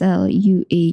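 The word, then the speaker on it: Sluagh: But the Kelts also feared another host, the Lua. It's spelled as S L U A G H but pronounced as Lua.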